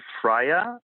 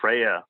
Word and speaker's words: Freyer: My name is Freyer. That's how you pronounce it in German. The English say Freyer.